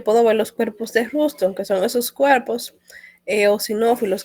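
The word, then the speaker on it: Rushton: Y también yo puedo ver los cuerpos de Ruston, que son esos cuerpos eosinófilos que se ven aquí en el interior de las células. Cuerpos de Ruston. Se escriben Rush, R-U-S-H-T-O-N, Ruston.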